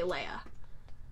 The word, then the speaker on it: Leia: know but that's what everybody everyone pronounced it Lea and then it became Leia and a lot of but a lot of the other actors like just recently watching it all the other actors say Leia okay and he's like the only one that